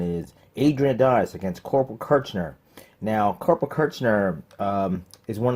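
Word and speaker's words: Kirchner: Here's the funny thing about his name is it's pronounced verbally on camera as Kurtzman with an S, but it's actually spelled with a C-H, Kurtzman.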